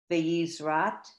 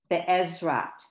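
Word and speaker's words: בעזרת: Baruch atah Adonai Magin Avraham Beyizrat. No, the second letter is silent. That's right. You got it. And then Sarah. Okay, so can you say the word before Sarah again, please? Sure. Be'ezrat.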